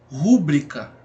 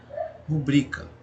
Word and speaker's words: rubrica: Quer dizer, se o acento agudo, se a sílaba tônica da palavra fosse aqui no ru, né? E aí a gente pronunciaria rúbrica, então essa palavra tinha que ser obrigatoriamente acentuada. E essa palavra não é acentuada, então logo a gente tem a conclusão de que a palavra ela é pronunciada da seguinte maneira: rubrica, certo?